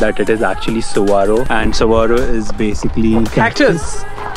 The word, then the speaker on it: Saguaro: Spelling में actually it's Saguaro, SAGUARO।